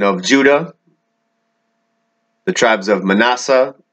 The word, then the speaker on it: Manasseh: judah the tribes of manasseh or pronounced hebraically menasha and ephraim the sons